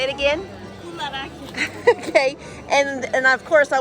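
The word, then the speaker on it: κουλουράκια: Kularakia. Say it again. Kularakia.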